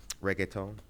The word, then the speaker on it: reggaeton: Regation, yeah. Yep. Aisha Okay, I Saxon. Good love morning. Regation. Regation. Yeah. Oh, that's how you say. Yeah. That's how I say. How do you say? Reggaeton? Reggaeton. Reggaeton.